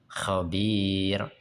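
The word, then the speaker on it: خبير: Yang keempat bila dimatikan karena wakaf dan didahului ya sukun. Contohnya khabir. Basir.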